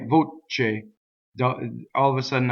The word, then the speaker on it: voce: right so this word voce so another mistake you can make in this word is to double the right so let's talk about